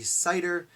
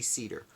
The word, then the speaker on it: Seider: and my understanding is in Germany and German names you pronounce the first letter of the e in the I so if it was i e would be cider if it was AI which it is it would be cedar I'm gonna say cedar